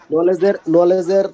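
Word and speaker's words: knowledge: নলেজের তো কে আর জি, উচ্চারণ হয় না, তাই না, কের উজ্জ্বতা কি উচ্চারণ হয় এরকম না, আর কি। নলেজ, তারপরে নো, নিউ, নো নি এগুলাতে উচ্চারণ হয় না, কে, এটা ইয়ে হয়ে যায়, বাদ হয়ে যায় আর কি, সাইলেন্ট হয়ে যায়, এরকম।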